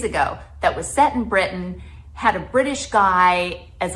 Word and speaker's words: Britain: when I'm filming in Britain, that I try to say Britain instead of Britain. Pronounce those T's.